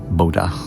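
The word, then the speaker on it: Bodø: We're going to a place called Boda. Um, B O D O, but again with the O with the A strike through, so it's pronounced more of a a bodha.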